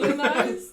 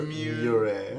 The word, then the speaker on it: Mure: Muniz? No, it doesn't. It's Mure. Mure.